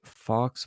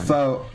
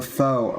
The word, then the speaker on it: faux: But Michael Cohen says Trump hired a Fox Obama, that's a Fox Obama, so a Fox Obama, during White House A run. faux Obama. What was that? A faux Obama. That's how that's pronounced.